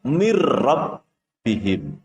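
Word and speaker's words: مِنْ رَبِّهِمْ: Yang kedua, tulisannya min rabbihim, tertulis min rabbihim, akan tetapi membacanya adalah mir rabbihim. Membacanya menjadi mir rabbihim.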